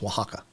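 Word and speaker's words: Oaxaca: only um yes that that spelling uh o a x a CA um is is pronounced Waka um yeah after the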